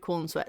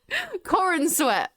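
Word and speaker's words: Corenswet: lovely final words David Corn sweat is a very handsome man okay Corin sweat I I said corn I think you I think you said it wrong every David the projectionist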